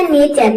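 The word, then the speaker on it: nature: का हो जाएगा ए यहां पे टी को हम च प्रोनाउंस करेंगे और यहां पे यू आर ई एक साथ आया है तो इसको हम प्रोनाउंस करेंगे अर ये हो जाएगा नेचर नेचर मींस होता है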